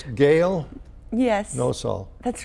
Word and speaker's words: Nosal: forgetful okay it's okay so it's Gail yes no soul that's right did I pronounce that wrong you did well I'm a